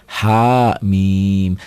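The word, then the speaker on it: حم: Ha, bukan hamim, hama, bukan. Dieja. Ha mim dieja, panjangnya tergantung tandanya.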